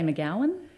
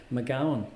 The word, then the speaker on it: McGown: I'd probably say McGowan. See, now hold on, because this could really start, you know, fisticuffs going over here. McGowan. McGowan. But is there an A in it?